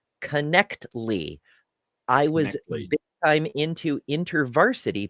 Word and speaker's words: Knechtle: Ember and Mark and hail critical thinking it's pronounced connly I was time into iners back in the day okay okay thank you I I really appreciate it that's awesome connly okay gotcha gotcha so I I will refrain